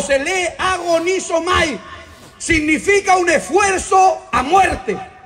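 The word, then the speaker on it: ἀγωνίζομαι: En el griego del Nuevo Testamento, que se escribe en griego, la palabra esforzado significa, o se lee agonizomai, significa un esfuerzo a muerte.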